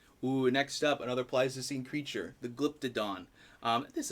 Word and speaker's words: Pleistocene: wrote down the pronunciation it's the pleistio scene so close oh pleistocene second mispronunciation of the night um but oh boy